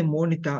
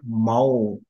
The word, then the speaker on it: Monita: When you say Monita, I could hear like mau, but it is not mau andi, maybe some mic problem.